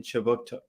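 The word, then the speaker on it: Kjipuktuk: Before we begin, I'd like to acknowledge that Right Start Newcomer Services conducts business in Chiboutuk, which is how you say Halifax in the Mi'kmaq language.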